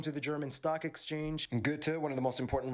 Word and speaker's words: Goethe: How did he pronounce? Goethe? Institutions. Also home to the German Stock Exchange. Goethe, one of the... Goethe. Please. Goethe. Most important writers in German history is from Frankfurt.